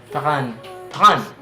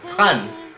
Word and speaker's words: prendre: Prendre. And then that's how you pronounce it. Prendre.